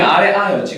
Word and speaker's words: 아래아: 여기 이름이 아래아였지, 그치? 이제 왜 아래아인지 알겠죠? 발음은 아 발음이 나는데 자음의 아래쪽에 붙은 아잖아. 무슨 말인지 알겠지? 그래서 아래아가 되는 거예요.